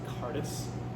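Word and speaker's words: Cairdeas: It's actually pronounced Cardis. Cardis?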